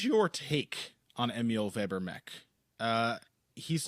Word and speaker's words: Meek: Meek is how the Germans would say it, too. Like a sound rather than E.